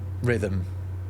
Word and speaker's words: rhythm: Point is, the h in rhythm, it isn't really doing anything.